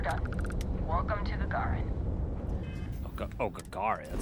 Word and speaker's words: Gagarin: Oh, Gagarin. That's how you pronounce it.